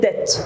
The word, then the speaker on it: debt: El B here is silent. We call it debt.